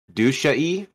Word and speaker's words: dushi: So, it is pronounced Dushi.